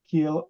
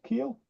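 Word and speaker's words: Kiel: seven SE booat near Keel on the German Baltic Coast is that have I pronounced that place right Rolland Keel he yeah know it's a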